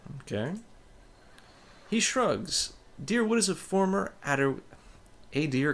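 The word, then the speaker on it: Dyrwood: the other scattered caravaners ah dearwood okay I've been pronouncing it drywood but why'd you move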